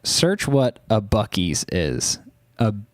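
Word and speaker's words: Buc-ee's: real gas station looks like search what a bues is a it's spelled bu u c e e apostrophe s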